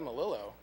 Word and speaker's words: Melillo: I usually get Melillo because we're down here. And, you know, two L's are J in Spanish.